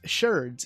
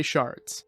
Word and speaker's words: sherds: And yes, it's pronounced sherds, even though a lot of people will still say shards.